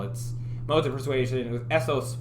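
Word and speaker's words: ethos: you might call it most of persuasion with essos pathos and logos that's how those are pronounced um that had to do with credibility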